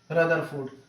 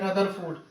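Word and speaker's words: Rutherford: जे J Thomson ठीक है सब कुछ डाउट क्लियर कर रहे हैं इसको हम लोग बोलते हैं रदरफोर्ड ठीक है ना रुदर फोर्ड भी बोला जाता है इनको और न्यूट्रॉन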